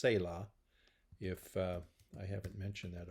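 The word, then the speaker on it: סלע: is that the word for rock is is pronounced Sayla if I haven't mentioned that already say law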